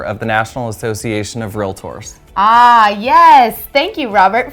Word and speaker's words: REALTOR: sarah did you know the correct way to pronounce our title is realtor wait it's not realtor or real latour no it's realtor and the definition of a realtor is a person who